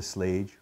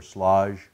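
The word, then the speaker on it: Schlage: And if you get right down to it, I like the Slage or Slage keyless locks or Slage or Slage, different ways of pronouncing it.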